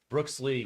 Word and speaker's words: Brooks Lee: sorry yeah I'm sorry brooksley I said it wrong Brooks Lee we hit his Redemption